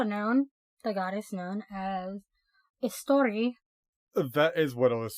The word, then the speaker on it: Eostre: It's also known, the goddess known as Eostre.